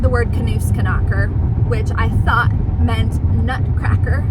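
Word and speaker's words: Nussknacker: Turns out I've been remembering it wrong for like 12 years, and it's actually just Knusknacker. It's not Knusknacker, it's Knusknacker, which makes so much sense because there's not a K in front of Knus, like, because in German they pronounce every letter.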